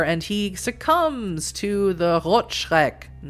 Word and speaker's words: Rotschreck: he succumbs to the Rotschreck. And that is how you pronounce that appropriately. Rot, meaning red. Schreck, coming from Schreck mich nicht, erschrecken.